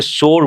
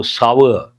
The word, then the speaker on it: sour: And people mispronounce, they say sour milk, no, sour. Milk has turned sour. How do you pronounce that?